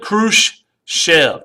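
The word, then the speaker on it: Khrushchev: Nikita kusf K shev Nikita K shev two syllables there divid it right here you kind of figure it out Nikita kusf Rose to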